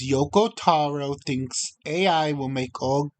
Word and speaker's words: Yoko Taro: I kept pronouncing the person's name wrong, but it's Yoko Taro, the creator of the